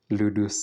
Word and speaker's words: ludus: this is from Latin so ludus St that's the pronunciation ludus is a playful